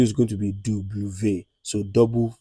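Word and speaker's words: double vé: According to French, it is believed that it is two V joined together to make W. So, V is pronounced as V. Then W is going to be double V.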